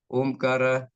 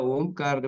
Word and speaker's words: ಓಂಕಾರ: ನೋಡಿ, ಅಕಾರ, ಉಕಾರ, ಮಕಾರ, ಅ, ಉ, ಮ. ಈ ಅಕಾರ, ಉಕಾರ ಮತ್ತು ಮಕಾರ ಸೇರಿದಾಗೆ ಓಂಕಾರ ಆಗ್ತದೆ. ಅದರಿಂದ ಈ ಪದ್ಧತಿಯಿಂದ ಈ ತರ ನಾವು ಓಂಕಾರ ಉಚ್ಚಾರಣೆ ಮಾಡಿದಾಗ ದೇಹದಲ್ಲಿ ಕಂಪನ, ಆ ವೈಬ್ರೇಷನ್ಸ್ ನಾವು ಅನುಭವಿಸ್ತೀವಿ.